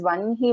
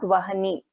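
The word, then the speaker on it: वह्नि: It is Vanhi Mandala Vasini, not Vahni. It is Vanhi Mandala Vasini. And script is also correct. Please don't get confused, and please remember to pronounce it as Vanhi itself. That is how it is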